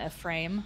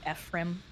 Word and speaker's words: Ephraim: Sacred Stones it's heavily implied that Erica in a frame I don't know how to say his name Ephraim F yeah e-p-h-r-a-i-m I always said a frame